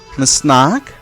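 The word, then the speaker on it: snack: যেমন আতাঙ্ক, তাঁক এই শব্দটি ইংরেজি থেকে এসেছে, তাই কি এর উচ্চারণ হচ্ছে স্নাক, আনস্নাক, স্নাকের ক্ষেত্রেও কা শব্দের উচ্চারণ হচ্ছে।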